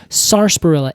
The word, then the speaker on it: sarsaparilla: also Sarsaparilla everyone says Sarsaparilla a or s-a-r-s-a-p-a-r-i-l-l-a yeah it's it's like a that's like a Boston pronunciation of Sarsaparilla yeah because you had that r on the end of a long a